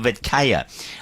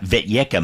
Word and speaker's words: Vetyeka: face a fella called Simpiwe Vetkaya. I think that's right. Vetyeka maybe is a better pronunciation.